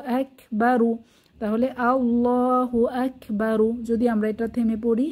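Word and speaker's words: الله أكبر: করে পড়তে হয় তাহলে এখানে আকবার র মোটা করে পড়তে হবে আল্লাহু আকবার আশা করি বোঝাতে পারলাম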